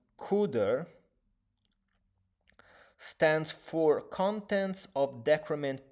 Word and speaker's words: CDR: CAR stands for contents of address part of register and CDR pronounced cuder stands for contents of decrement part of register.